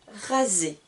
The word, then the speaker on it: raser: voici les consoles donc si le s qui est une consonne et écrits entre eux deux voyelles donc au milieu donc de chaque côté nous avons une voyait il va se prononcer comme un z donc ici je vais dire rasé et et pas assez se raser je continue se